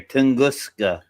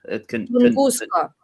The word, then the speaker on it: Tunguska: There's a G in there. Tungusa. Tunguska. Tun. Yes. Tunguska. Yes.